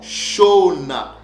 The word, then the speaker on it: Shona: c'est mot là ok c'est prononcé pas chonamite non ça se prononce tout simplement chona et on dit que